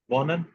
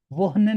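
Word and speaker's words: wohnen: जी वॉनन और ये गे गेहन गे गेयन गे होता है, ये ठीक है, वोनन, गेहन वोहनन नहीं, वॉनन ठीक है, तो ये थोड़ा वॉनन।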